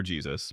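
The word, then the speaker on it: Jesús: Soos's name is technically Jesus, Spanish for Jesus, pronounced differently.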